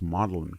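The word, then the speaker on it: Magdalen: mean some told Magdalin College is pronounced Modellin College but I'm not and I don't I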